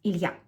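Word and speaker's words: Ilya: Now Ilia would sound even more differently in Russian than it does in English. It would have two syllables, not three. And uh the stress will be on the last syllable. It would sound as Ilia.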